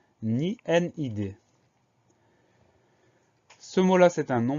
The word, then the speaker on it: nid: également, c'est le mot nid. Le mot nid, il a des homophones, il s'agit bien du nid de l'oiseau. Et ce mot-là, il s'écrit N-I-D. Alors, on a une lettre muette, la lettre D, qu'on va retrouver dans